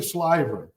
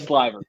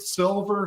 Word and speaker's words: Sliver: pleasure and I forgot to ask did I pronounce it right I went with what I assumed for the last yeah it's actually sver it is slver yeah it is slver but you know I I get silver shiver you know you get stuff spelled every